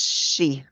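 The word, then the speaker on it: sidhe: I don't know how to pronounce it it's pronounced she she okay I was that's what I looked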